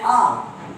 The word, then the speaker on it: hour: Similarly, an hour. I'm waiting for an hour. Hour. H is silent.